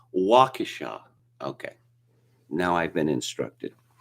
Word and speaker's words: Waukesha: incident and i'll talk about that apparently it's waukesha okay now i've been instructed i have a